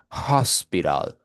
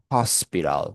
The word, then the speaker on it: hospital: Es la única consonante que es glotal y se pronuncia de la siguiente manera. Es como si usted estuviera dando como que un suspiro, ¿vale? Por eso que usted dice hospital, hospital, ¿ok?